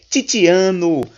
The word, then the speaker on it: Tiziano: Vou pronunciar italiano agora de forma adequada. Tiziano.